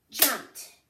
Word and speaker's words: jumped: did I do I jumped let's check our syllables ready jumped how many syllables why so we think should